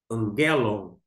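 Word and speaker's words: ἄγγελον: temos aqui do gama quando tem dois Gamas o primeiro uma questão de eufonia ele vai ser pronunciado como o n por isso você lê angelon angelon se tivesse se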